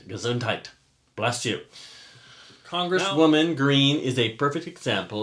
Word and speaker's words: Gesundheit: evaded the entire covert pandemic with a simple Gazoo night is that how you say it Gesundheit gazuntite bless you congresswoman green is a perfect example